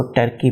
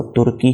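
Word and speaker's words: Türkiye: मुताबिक इंग्लिश भी इसको तुर्की ही पढ़ेंगे। पहले इसको टर्की पढ़ा जाता था इंग्लिश लैंग्वेज में, अब तुर्की पढ़ा जाएगा।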